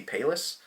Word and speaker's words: Pallas: palace i think it's called palace it might be payless i feel like that's how kyle says it but that just makes me think of payless shoes um anyways i think it's palace because it's spelled p-a-l-l-a-s and uh this is spartan's